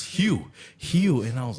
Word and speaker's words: Hugh: And she said, it's Hugh, and I was like, what the Get out of here.